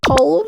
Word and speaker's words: colonel: Colonel, no. Cupboard, catsup, catsup. What is this catsup? Words like colonel, Oh, colonel. Oh, yeah, I knew it was pronounced like that.